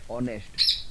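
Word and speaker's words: honest: से शुरू होना चाहिए जैसे आप बोल रहे हैं ऑनेस्ट व स्पेलिंग एच से शुरू होता है लेकिन पहले क्या आता है ओ ओ इ स्वर तो उसके आगे एन लगेगा चाहे आगे कंसोनेंट है और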